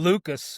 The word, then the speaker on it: Lukes: Lucas. It's Lucas. Lucas. That's right. I know it's Lucas. It's spelled Lukes. It's Lucas.